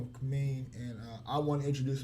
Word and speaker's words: Cameen: Am I pronouncing that correct? Yes, it's Cameen.